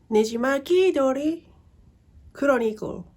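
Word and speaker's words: ねじまき鳥クロニクル: Nejimaki Dori Chronicle.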